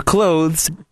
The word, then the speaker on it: clothes: No one uses the TH. Thank you. That's what we tried to tell him yesterday. TH is like the fucking appendix. We all say it like you're closing a door, a close.